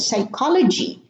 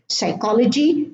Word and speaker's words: psychology: In English, the P is silent at the beginning of the word: psychology, psychiatry, pseudonym, and pneumonia.